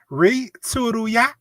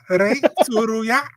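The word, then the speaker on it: Rei Tsuruya: Ray Tsuruya. Ray Tsuruya.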